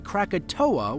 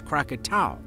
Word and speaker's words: Krakatau: the most mispronounced anounced many people including myself mistakenly say katoa when the official name is kakat what's even funnier is